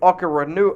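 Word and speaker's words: Okoronkwo: to terms with former rams outside linebacker obo oka renew i can never pronounce his last name ogbo oh it's o-k-o-r-o-n-k-w-o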